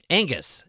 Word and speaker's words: Angus: thanks for dropping by angus is how I say my name Angus 8ng US